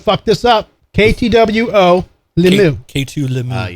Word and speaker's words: Lemieux: K2 Lemieux. Yes. K2 Lemieux. That's how you pronounce that.